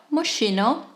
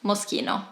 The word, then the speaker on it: Moschino: to say it mosquito it's not Moschino it's Moschino Brunello cuccinelli another brand that